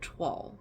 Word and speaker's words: toile: The word toile, right? T-O-I-L-E. It's pronounced toile. But it looks like it should be pronounced like toil with a silent E.